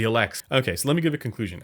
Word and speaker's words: Elex: would probably pick the lx i said it wrong the elects okay so let me